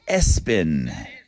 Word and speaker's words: ESPN: There are at least 25 student athletes in America whose parents named them ESPN, pronounced Espen.